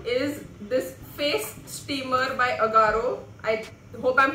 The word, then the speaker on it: Agaro: Amazon is this face steamer by Agaro. I hope I'm pronouncing the brand right. Yeah, it's Agaro.